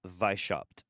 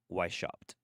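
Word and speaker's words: Weishaupt: So we had the Bavarian Illuminati founded by Adam Weisshoff who was Adam Vishop or Wishop. It's it depends on how you want to pronounce it.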